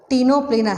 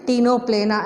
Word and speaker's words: Ctenoplana: Ctenoplana, C is silent, Ctenophora. So any example is Ctenoplana and Coeloplana.